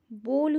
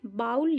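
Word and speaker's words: bowl: याद रखना, बोल उसका सही प्रोनाउंसिएशन है, बाउल नहीं कहते, बाउल रॉन्ग प्रोनाउंसिएशन है।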